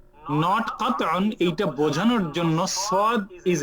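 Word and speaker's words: صاد: এই ফুল সদের একটা smaller version সদ, এটা থাকবে। সদ লেটার হয়তো আপনারা চিনতে পারতেছেন, যেটার নাম হলো সদ, যেটা বাংলাদেশে বলছি সোয়াদ। বাংলাদেশে কি বলতাম, সোয়াদ।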